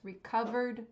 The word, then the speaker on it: recovered: tense for this verb it does not end in t or d so it should only have three syllables recovered not recovered it's recovered with just a D sound at the end so you might be